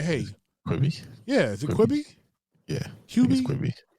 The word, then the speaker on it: Quibi: T-Mobile Tuesday I got six months free of quibby QB whatever I don't know how to pronounce that thing um but I'm like hey yeah is it quibby yeah it's quibby yeah um I haven't watched anything going quick